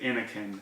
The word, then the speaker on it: Innokin: all the way from the guys over at Inokin, or Inokin. I used to call it Inokin, but I think after ECC this weekend I stand corrected, and I heard George actually say Inokin.